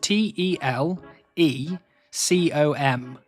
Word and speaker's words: telecom: to telecom and just for confirmation that is t e l e c o m telecom and that's how you pronounce his name correctly.